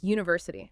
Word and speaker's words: university: Let's look at those tricky ones like university starts with u a vowel letter right but the sound is you like the y in